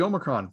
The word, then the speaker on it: Omicron: Anyway, so Kaitlyn's got the Omicron vaccine coming in March.